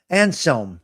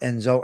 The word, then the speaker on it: Anselm: Saint uh Anselm, not Enzo.